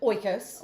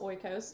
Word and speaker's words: Oikos: Oikos. Oikos.